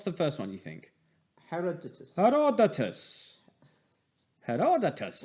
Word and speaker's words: Herodotus: Herodotus. Herodotus. Well, it's Herod Otus.